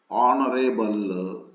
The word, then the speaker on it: honorable: In the word our, H-O-U-R, our, honest, honorable, H is there, but H is silent.